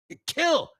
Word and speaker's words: kill: Kill, ill, como enfermo. Kill rhymes with Bill.